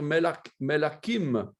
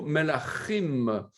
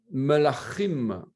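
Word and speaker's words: מלכים: On doit prononcer le Ch guttural de la gorge. Pas facile de se mémoriser ça. Melachim, Melachim Aleph et Melachim Bet.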